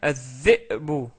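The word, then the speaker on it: الذئب: En rajoutant le alif ou lam, ça devient az-dhi'bu, az-dhi'bu. Donc on rajoute la shadda sur dhal parce qu'en fait dhal est une lettre solaire.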